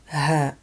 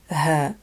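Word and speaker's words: هاء: Letter H, H. This is a very gentle and soft H sound, like the one you find in the word home or hole, because it looks like a hole.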